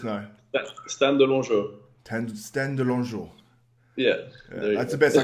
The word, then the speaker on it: De Longeaux: So how do you pronounce it? Let us know. Stan De Longeaux. Stan De Longeaux.